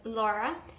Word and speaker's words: Laura: Over the years, I learned how to say my name as Laura, and it was a bit hard for me because the R in English is different from the R in Spanish.